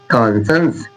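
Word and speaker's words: conscience: सीटी वाला सा, सीटी वाला सा, सपेरा वाला नहीं, सीटी वाला। देखिए, कॉन्संस, कॉन्संस, कॉन्संस।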